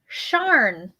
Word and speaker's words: Charn: herself this is um charn is actually how the name is pronounced okay of the beaten